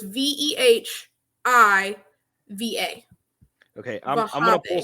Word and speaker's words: Wehiwa: So if you take his name, it's Wehiwa. Replace both W's with V's. So it's Vehiva.